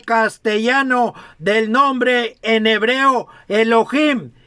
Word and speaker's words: Elohim: Nuestro Padre es Dios, entre paréntesis, Elohim.